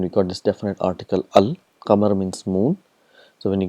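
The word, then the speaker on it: القمر: For example, we have qamar, and we got this definite article al. Qamar means moon. So when you get al plus qamar, it becomes al qamar. So all the letters are pronounced clearly, al qamar.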